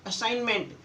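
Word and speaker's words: assignment: जब भी जी के बाद एन आए किसी शब्द में तो आपका जी साइलेंट होगा। Designer, sign, असाइनमेंट।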